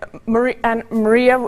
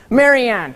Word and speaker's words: Marianne: And Maria, if you'll read yours first. Marianne. That's okay. I was close. Learning experience. Now you know Yep. how to pronounce it.